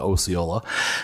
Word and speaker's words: Osceola: Thank you for the correction of the pronunciation to Osceola.